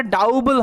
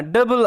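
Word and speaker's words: double: ইউ বি এল ইম এখানে উচ্চারণটা ডাউবল হয় না ডাবল এরকম হয় কারণটা কি যে ও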